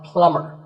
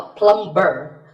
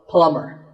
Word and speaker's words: plumber: You call him a plumber, not a plumber. The B is silent, so plumber.